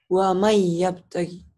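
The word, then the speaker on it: وَمَن يَبْتَغِ: Waman yabtagi ditulisnya waman, dibacanya jadi wamai yabtagi.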